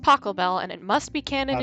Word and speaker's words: Pachelbel: of Pachelbel's chamber music it's pronounced Pachelbel and it must be